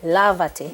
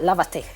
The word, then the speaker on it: lávate: If I don't put a tilde here, or the accent right here, you would not get the pronunciation. So we want it to be lavate, yes, and not lavate. See, we want the stress. Right, we want to maintain the stress Exactly. where it was before we had this.